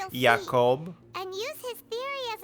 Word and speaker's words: Jacob: It's pronounced Jacob.